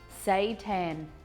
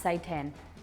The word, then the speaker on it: seitan: i don't understand okay say tan i think it's pronounced say 10 okay oh now it's